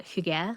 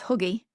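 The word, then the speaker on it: hygge: I used to pronounce it as huggy. Well, I like that though cuz it's like, you know, it's like a hug, like cozy.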